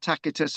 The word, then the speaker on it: Tacitus: is we've just mentioned Tacitus haven't we and the the C is pronounced K tacitus so this this again